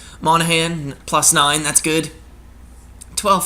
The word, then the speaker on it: Monahan: I'm looking for uh Monahan I think that's how you pronounce your name monagan I just say it the g is silent Monahan plus nine that's good